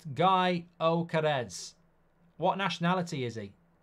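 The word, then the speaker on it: Gyökeres: a funny Instagram clip apparently his name is pronounced guy Oz what nationality is he guy oares sporting lisman Striker is Swedish here's Lukaku to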